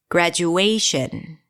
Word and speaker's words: graduation: What's the primary stress here? Graduation. A. Graduate, higher in pitch, longer than the rest. Shin. And a little louder.